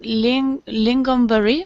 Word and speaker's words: lingonberry: Yes, different lingonberry, maybe because it had 4 syllables. I don't know. Yeah. Yeah. Also because it's not gone, but gun.